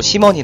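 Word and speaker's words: 西門: 업소도 많이 몰려 있습니다 서쪽에는 서문 현지 발음으로 심원이 부르며 이쪽 지역을 심원 딩이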